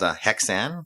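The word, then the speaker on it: Häxan: It's called Hexan. It's spelled Haxan.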